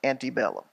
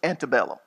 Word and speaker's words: Antebellum: know what Antebellum means I'm a good Southerner so I pronounce it Antebellum if you're in the north it's Antebellum but everyone knows what